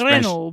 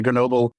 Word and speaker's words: Grenoble: I can't pronounce Grenoble. French. Yeah. Grenoble. Yeah, I don't do the R's right, so I'm not saying it right either.